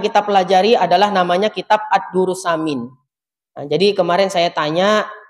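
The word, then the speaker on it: الدر الثمين: Ya, sammaituhu Ad-Durrus Samina.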